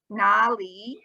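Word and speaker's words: 哪里: taiwan right because in in taiwan we say nali but in china they say nar right yes because now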